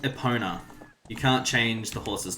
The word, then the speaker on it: Epona: It's probably actually technically supposed to be called Epona, since this is a Nintendo game and it is Japanese, and that's sort of how Japanese pronunciation works, is Epona.